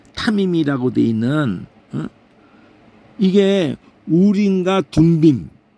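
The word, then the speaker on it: תֻּמִּים: 이게 사전에서 보면 그게 빨리 보이거든요 여기 보면은 둠밈 앞에 나오나 여기 있네 여기 우가 여기서 발음이 돼 가지고 둠밈 덤빔이 아니라 둠밈 완전이라는 개념으로 승패 안에 있었던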